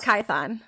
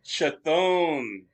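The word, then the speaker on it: Chthon: in the comic book i pronounced it wrong until david came on so i call i mean yeah how do you pronounce how do you pronounce i call it kython that's what i thought that's what i've heard was kython that's how i've always read it what is that it's chatham okay all right well i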